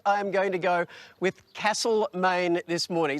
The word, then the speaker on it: Castlemaine: we are in now i would pronounce it castle maine but the locals call it castlemaine and because there are